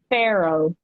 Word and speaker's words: Farrow: Pharaoh.